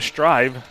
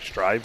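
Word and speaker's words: Stryve: it before give it a try go to strive s-t-r-y-v-e i think i'm pronouncing that right strive i would say that's kind of a wild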